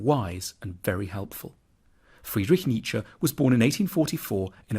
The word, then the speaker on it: Nietzsche: the challenge begins with how to pronounce his name the first bid should sound like me the second like cha Nietzsche then we need to get past some of